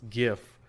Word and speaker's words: GIF: I pronounce it correctly, and it's GIF, because I don't go to your birthday party and bring you a gift.